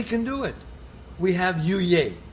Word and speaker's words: Yuyay: It's got to be said with gusto.